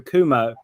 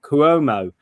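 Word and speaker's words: Cuomo: uh former Governor um Andrew Kumo I always mispronounced that kuomo on on his side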